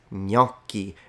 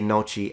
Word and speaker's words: gnocchi: Okay, yeah, I did this one on my dedicated video, and it's gnocchi. And imagine people say noci, and this, yeah, noci is how it's usually pronounced by those who don't speak Italian.